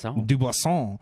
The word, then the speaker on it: Dubuisson: Dubuisson.